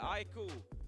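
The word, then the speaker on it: iQOO: is Makers, and also Vivo how do I pronounce? Aiku? Yeah, Aiku.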